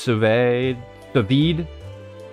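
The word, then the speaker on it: sous vide: It's pronounced suve svid but spell like above. Ah okay. So oh you meant sevid.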